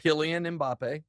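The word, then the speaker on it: Kylian Mbappé: France's Kylian Mbappe. Kylian Mbappe.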